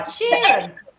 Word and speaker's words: Ed Sheeran: Ed Sheeran.